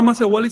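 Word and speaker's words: macehualli: Entonces el sustantivo tli no se pronuncia tli, sino li.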